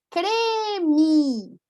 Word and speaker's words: creme: Só para confirmar, se tem acento, você pronuncia com E. Uhum. Com acento, E. Sem acento, I. Confirmando, sim, sim. Então, aqui, né? Creme, café, certo?